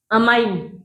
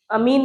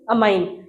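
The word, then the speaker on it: amine: ऐसे ही NH3 present है तो यहाँ पर क्या है, अमाइन, अमीन नहीं अमाइन, ये वर्ड ध्यान रखना, क्योंकि पेपर में आया हुआ क्वेश्चन है।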